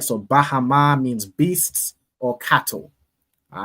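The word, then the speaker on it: בהמה: Now, Ayala, could you tell us how we would pronounce this first word in the Hebrew? Beasts. Khan. Bahama. Bahama. Excellent. Right? So Bahama means beasts or cattle.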